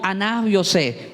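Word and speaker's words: אני יוסף: Repito, porque en el hebreo se pronuncia, no es yo soy José su hermano, sino Aná José.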